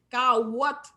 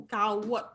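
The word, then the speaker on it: kawòt: Carotte. Rappelez-vous, le W, c'est comme un petit OU. Carotte.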